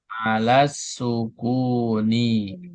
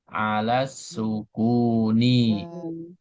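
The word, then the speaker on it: على السكونِ: Jadi kasih harakat jangan dibaca mabni tapi mabniunni alas sukuni. Nah, jadi ini perhatikan cara baca itu harus dikasih harakat alas sukuni. E Anda baca alas sukun betul tapi yang lengkap alas sukuni.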